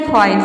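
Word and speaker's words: fight: मतलब होता है तं तो इन सभी वर्ड में आप देख रहे हैं कि आई के बाद जी एसटी जीएसटी आ रहा है सभी वर्ड में इसलिए हम यहां पे आई को आई प्रोनाउंस कर रहे हैं नेक्स्ट रूल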